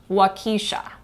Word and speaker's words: Waukesha: when he can't pronounce waukesha how do you pronounce it wakisha when he went to marquette high school or